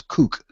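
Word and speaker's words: CUC: Cuban convertible peso or see you see which we pronounce kook and a kook is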